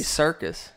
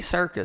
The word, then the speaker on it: Serkis: at Circus Circus Circus Sarek sir Sir Andy Serkis that's how you say his name darkest yeah Andy Serkis fear not Kirkus I don't know how -